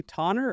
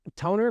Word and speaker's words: Tonner: Yeah, it's Toner, but phonetically, you're on point, right? Like, it makes no sense to have a double N and go with it, but that's just what it was.